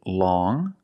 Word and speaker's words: long: pronunciations first we see long with the sound which is a nasal sound long but then you have